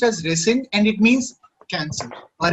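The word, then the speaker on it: rescind: of signed this one yes sir it's called resend okay okay it's pronounced as resend and it means cancel or reject the same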